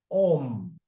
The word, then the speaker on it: Om: The syllable Om is composed of the three sounds A, U, M, Om, which represent a triad,